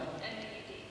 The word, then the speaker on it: Maud: It's Maud. What is that? Maud. How do you spell that? M-A-U-D.